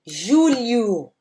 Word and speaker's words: julho: Depois a gente tem outro dígrafozinho aqui, o LH, né? De julho, liu. O som que nós vamos ter aqui é esse. É um biquinho, ok? Julho, ok? E temos então agosto, setembro, outubro, novembro e dezembro.